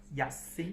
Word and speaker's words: Sun Yat-sen: En français, son surnom se prononce Yatsen. Sun Yat-sen.